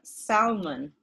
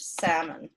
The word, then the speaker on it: salmon: And in fact, interestingly, I hear a lot in America salmon instead of salmon.